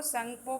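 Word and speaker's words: Tsangpo: वहाँ पे वो संगपो के नाम से जानी जाती है। देखिए लिख रहा होगा इसमें टी साइलेंट है, संगपो के नाम से जानी जाती है।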